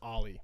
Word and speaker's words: Ollie: It's pronounced Ollie, by the way.